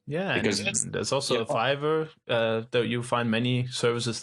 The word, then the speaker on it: Fiverr: Fiber? No, Fiverr as the 5.